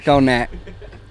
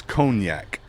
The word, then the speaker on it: cognac: Phonetically. There you go. This is my high school graduate right here. Conac. It's cognac.